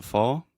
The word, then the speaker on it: fall: the final L but the ah combined with the dark l sound almost makes the